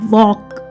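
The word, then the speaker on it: walk: अब ये है वॉक, WA Waugh, L silent है, K तो बना वॉक।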